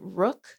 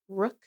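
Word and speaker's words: Rohk: then I'm like okay it's ROH K and it I think it said rook rook is how you say it um but it's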